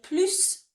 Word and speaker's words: plus: Plus de, if you want more of a thing, we say more of the word. So we're going to say plus, we're going to pronounce the S here.